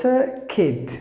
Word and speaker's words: circuit: And the next word is circuit. There are two letters silent. The letter letter R is silent.